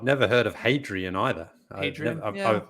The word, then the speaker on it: Hadrian: Hadrian, I mean, Adrian without the H. We had a few of those at our school, but not a hat in front of it, unless that H is silent in that case.